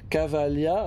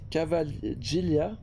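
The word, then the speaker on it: Cavaglia: nom soit prononcé différemment mais là Cavalia c'est c'est un nom vraiment c'est une écriture italienne c'est une prononciation italienne il y a pas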